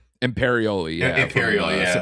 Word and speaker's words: Imperioli: Is that how you pronounce it? Imperioli, yeah.